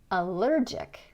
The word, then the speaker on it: allergic: look at the suffix and we're going to put the stress on the syllable before. Terrific. Terrific. Allergic.